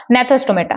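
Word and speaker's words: Gnathostomata: इसमें जी को साइलेंट रख दीजिएगा। नेथोस्टोमेटा।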